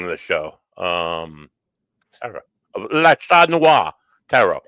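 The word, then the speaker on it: Le Chat Noir: Please welcome to the show, Sarah of La Chat Noir Tarot. Oh, you said it right.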